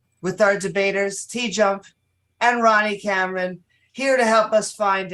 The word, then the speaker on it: Ronny Cameron: properly out loud because what's in my head, Ronnie Cameron? Yes. Sound fantastic. All right. Is there another way to pronounce it? Ronnie Cameroon.